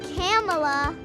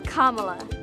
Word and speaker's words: Kamala: in California that actually shows you how to pronounce it. Let's go. It's not Kamala. It's not Kamala. It's not Kamala. It's Kamala.